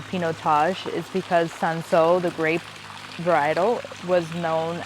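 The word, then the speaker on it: Cinsault: n s a u t um and you pronounce it Seno but the reason why this is called pinotage is because sanso the grape varietal was known as Hermitage so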